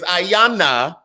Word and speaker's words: Ayanna: kamala or ayanna presley her name is ayanna it was the continued mispronunciation of the names for me i caught